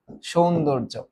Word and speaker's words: সৌন্দর্য: এটা হচ্ছে সৌন্দর্য সৌন্দর্য এই যে দেখো এই যে এটার উপরে রেফ আছে না তাহলে তার আগেরটা ওকার যুক্ত হয়ে যাবে তাহলে এটার উচ্চারণ কেমন হবেশন সনদর সুন্দর তারপর কি হবে জ সৌন্দর্য এবার বলতো এটা কি